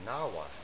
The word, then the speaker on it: Nahuatl: It's the Nahua tribe. Nahua is spelled N-A-H-U-A-T-L.